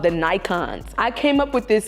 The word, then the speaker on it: Nikons: Y'all, my fan club is called the Nikons. I came up with this because I just felt like iconic, Nikos, together, Nikons. Like, so it's called Nikon, like it's spelled like the camera Nikon, like Nikon. That's how you spell the camera, right?